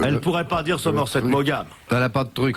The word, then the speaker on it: Maugham: Mais comme si vous hésitiez et que vous ne vouliez pas envoyer la dernière syllabe. vas-y refais. Somerset Maugham. Voilà. Bon. Très bien. Tu enlèves Somerset. Tu le supprimes. Tu fais simplement Maugham.